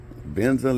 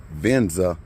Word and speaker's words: Venza: As I said before, the 2012 Toyota Aventza, let me pronounce the word right. Venza L.